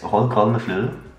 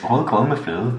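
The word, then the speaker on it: rødgrød med fløde: It's Hold kold med flue, which means red porridge with whipped cream. Do you know why? No. Because it's difficult to pronounce. It has the U sound. The U.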